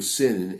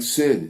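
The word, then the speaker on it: שין: the left one then the dot makes it into a sin SM so shin and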